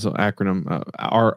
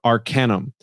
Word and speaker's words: arcanum: Arcanum it's I say I've been saying it wrong acronym Arcanum thus I have the